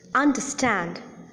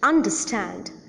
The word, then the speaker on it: understand: little less prominent than the last syllable, and that is the first syllable of all the words that I have mentioned just now. Disappoint, entertain, understand, decompose.